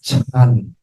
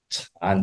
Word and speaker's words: Chan: it's not Zen it's chan chan okay we are not Japanese right Zen is the Japanese pronunciation of the Chinese character Chan okay so the same